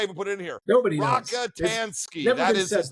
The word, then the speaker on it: Rockatansky: Rockatansky.